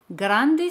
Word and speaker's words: grand: Grande se dice grand. Grand. D al final no se pronuncia. Si el adjetivo es masculino, en francés se dice grand.